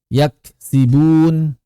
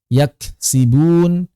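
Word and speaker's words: يكسبون: Kadzabat tsamud atau misalnya yaksibun. Banyak yang baca yaks yaks yaksbun yaksbun. Yaksibun. Yaksbunya seperti di tasdid yaksbun. Yaksibun. Yaksibun misalnya begitu atau misalnya qod jaa.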